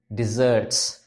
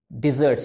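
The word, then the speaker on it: desserts: Least, I ordered some डिजर्ट्स। डिजर्ट्स, यस, कुछ लोग बोलते हैं डेजर्ट ऑर्डर किया है। डेजर्ट इज रेगिस्तान, रेगिस्तान थोड़ी ऑर्डर करते हो खाने में। डिजर्ट्स, there is a difference between the pronunciation.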